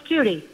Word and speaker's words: Judy: Let's go to JD. Is that how you say it in Swansea? It's Judy. Judy, I'm sorry.